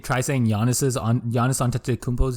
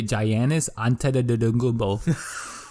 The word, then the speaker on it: Giannis Antetokounmpo: You know, whenever everyone, hey, y'all remember when people try saying Giannis Antetokounmpo's name? They used to say Giannis Antetokounmpo. It wasn't really that hard. You just had to sound it out phonetically, and then the G just pronounced the Y.